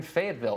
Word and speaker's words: Fayetteville: So we've been traveling, promoting the album, and it's great to be here in Fayetteville.